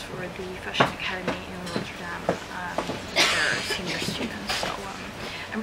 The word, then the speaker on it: Rotterdam: So it's pronounced Rotterdam.